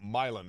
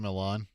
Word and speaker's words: Milan: you by the way the fact that you didn't pronounce it Milan you can always tell when somebody's new in town when they're like last night in high school basketball Milan defeated versales yeah you know or actually